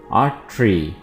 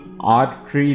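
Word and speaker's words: artery: की नाली आ ट्री अट्री Ryan इसको बिल्कुल आर ट्री नहीं पढ़ना है आर ट्री नहीं पढ़ना है आ ट्री आ शयानो डेंस सरोट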